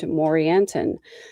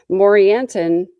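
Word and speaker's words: Morianton: A maid servant worked for a Nephite leader named Morantinon. Morantinon rhymes with Coranton.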